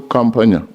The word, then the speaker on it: Kampanya: Honorable Kampanya and pronounce Help me pronounce your name very well. Kampanya Kampanya In case you forget Kampanya, you remember someone pronouncing Kampala. Then you change nya.